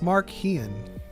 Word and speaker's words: Marchion: Don't worry about it, Marchion." It's Mark Hean.